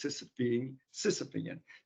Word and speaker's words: Sisyphean: You know, it's the word that I like to use when I pronounce it correctly is Sisyphean, the Sisyphus issue, which is you think, and this is true for government too.